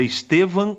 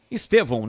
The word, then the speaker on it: Estevão: do jogador do Palmeiras é Estevan ou Estevão Estevão né stevão não Estevão Estevão